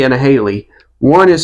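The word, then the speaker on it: Halie: a Haley and a Haley. One is spelled H A I L E Y and the other one is spelled H A L I E. That's both Haley.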